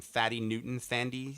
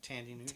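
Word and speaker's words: Thandie Newton: I can never say her name. Thady Newton. Tandy Newton. Tandy.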